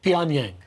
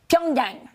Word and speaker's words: Pyongyang: Pyongyang. Pyongyang.